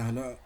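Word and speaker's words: ح: গোলাম রব্বানি ভাইয়া দেখেন, আর একটা লেটার এখানে হলো হা। হা লেটারের উচ্চারণ স্থানটা ছিল হলো হালকের অথবা কণ্ঠনালীর শুরু থেকে।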